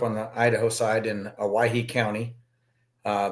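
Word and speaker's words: Owyhee: I grew up on the Idaho side in Aahe County. Uh, they call it Aahe County because it's spelled O WY E because that's that's what that's how they thought you spelled Hawaii.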